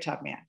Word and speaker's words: Tubman: Two syllables. First syllable is, that's right, tub. Second syllable is, that's right, man. Put it together. What have you got? Yeah, her name is Harriet Tubman.